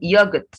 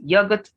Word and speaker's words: yogurt: pronounced just chocolate then yogurt now this word could be pronounced as yogurt or yogurt but not yugot good so either you say